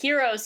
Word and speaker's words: HxEros: They say heroes, but I think the X is silent because one of the